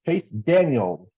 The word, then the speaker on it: Chase Daniel: be meatball Nemesis because they can't say his name right but Chase Daniel no s Justin Fields last 17